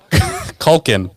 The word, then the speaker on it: Culkin: are you talking about macaulay cochran culkin we call it culkin oh i'm sorry i